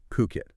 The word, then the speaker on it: Phuket: And just quickly before we really jump in, pronunciation, it matters. It's Puket. Puket. Got it. Puket, not Fukit.